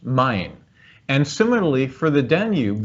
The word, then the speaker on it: Main: It's spelled M-A-I-N, but it's pronounced Main.